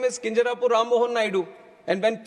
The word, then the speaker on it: Kinjarapu: And my name is Kinjarapu Ram Mohan Naidu. And when some people say Kinjarapu, there might be some problem with them.